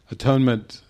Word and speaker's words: atonement: You're mispronouncing the word. No lo estás pronunciando bien. It is not atonement. No es atonement. It is at-one-ment. Es at-one-ment. And I say, well, actually, the at-one-ment is a term of oneness. At-one-ment es un término que significa unidad.